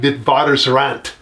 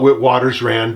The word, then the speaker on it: Witwatersrand: pronounce it more like Witwatersrand. But I'm American and I pronounce things the American way because I live in America. And so we're going to call it Witwatersrand because that's how it's normally pronounced here.